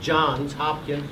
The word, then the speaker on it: Johns Hopkins: went on to and i want to make sure i pronounce it right john's at plural johns hopkins university where he had received